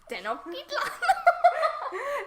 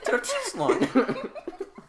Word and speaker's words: Tenochtitlan: Tenochtitlan. Tenochtitlan. Just have your voice jump 2 octaves when you say Tenochtitlan.